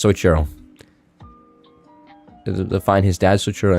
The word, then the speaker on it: Soichiro: How do I fucking pronounce that? Dude, I'm not gonna lie, I've never been good at... Soichiro. It's Soichiro.